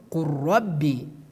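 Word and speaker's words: قُلْ رَبِّي: see in the screen, qul rabbi, qul rabbi. We pronounce it based on idgham, qur rabbi, qur rabbi, qur rabbi. We remove the letter lam.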